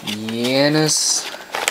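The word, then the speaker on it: Yoenis: So, rhymes with penis. Says Yanis Cespedes, I believe.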